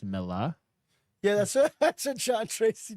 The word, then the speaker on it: Millar: Also, I'm finding out that it's called his last name's pronounced Milla. Yeah, that's what John Tracy just said. Milla? Miller. Yeah. Or Millar. Not with the It's hard R. Miller?